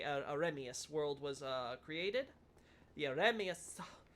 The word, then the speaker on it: Ariamis: It just says, is that not why this Ariamis world, or I should say Aremius world was created? The Aremius world. The idea, of course, being that Ariamis, or Ariamis, however it was supposed to be pronounced.